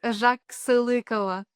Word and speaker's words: Zhaxylykova: It's Zhaxylykova. Zhaxylykova.